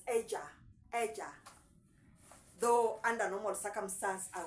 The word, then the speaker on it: ella: We pronounce it as Eja. Though under normal circumstance, I would read it as Ella.